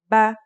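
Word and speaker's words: بَ: First, here's a fata. The pronunciation will now be ba. Next, this is a kasra. This is now pronounced as b. And finally, here's a dhma.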